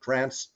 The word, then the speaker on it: Kranc: Just to note, my last name is actually pronounced Kranc. It's a German word with Polish spelling, so long story in my family.